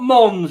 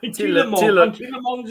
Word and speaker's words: Tielemans: It's not Mons, it's M-A-N-S, it's Tielemans. Tielemans is on the ball.